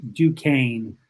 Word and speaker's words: Duquesne: that spelling is a little funny but it's pronounced duquesne so it's duquesne university we are a private catholic university we